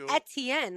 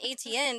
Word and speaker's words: Etienne: But I thought that would be Etienne, like etouffee, not A-chan. Yeah. A-chan. That doesn't, those are all silent letters.